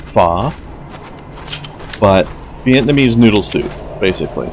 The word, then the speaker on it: pho: One thing I recommend trying, if you haven't, speaking of different cultural foods, I've always called it pho, but I heard the other day that it's actually supposed to be pronounced pho, but Vietnamese noodle soup, basically.